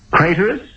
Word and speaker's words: Craterus: isn't it you have a name that the great poet Pino would enjoy rhyming craterus which rhymes with traitorous guards seize this traitor